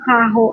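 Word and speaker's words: carro: expensive or ung mahal R niya is caro pero pag double R na magiging kaho ang kaho dito guys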